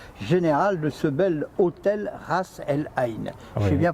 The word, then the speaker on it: Ras El Ain: Vous êtes manager on duty, le directeur général de ce bel hôtel Ras El Ain. Oui. J'ai bien prononcé?